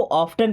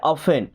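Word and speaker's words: often: कुछ लोग इसको ऑफेन पढ़ते हैं। बट यहां पे टी साइलेंट होता है। ओके? क्या पढ़ते हैं? ऑफेन।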